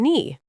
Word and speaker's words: knee: K in no, knife, and knee are all silent. So it's just no, knife, and knee.